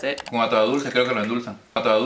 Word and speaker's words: atado de dulce: up, atado de dulce, and I was trying to pronounce it correctly, and so I was saying atado de dulce. But no, if you listen to how Tomas says it. Con atado dulce, creo que lo endulzan.